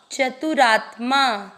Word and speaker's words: चतुरात्मा: तीसरा चरण चतु, च में अ मिक्स करना, चतु रा आधे त के साथ माँ, चतुरात्मा।